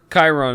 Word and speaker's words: Chiron: Also, how do you pronounce, or Sharon, or... Chiron is the way I'd pronounce Chiron.